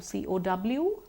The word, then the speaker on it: cow: If I take a simple word like cow, C-O-W, cow, there's no W. If I say saw, S-A-W, saw, it just becomes the O sound.